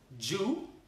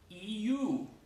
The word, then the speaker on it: you: En inglés la Y se pronuncia como una I latina. Entonces, ¿cómo dirías esa palabra, Leonor? Piénsalo. ¿Dirías you o dirías you? You o you.